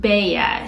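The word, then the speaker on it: Beje: it's spelled b e je e but it's pronounced Bea so the hiding place is called the baa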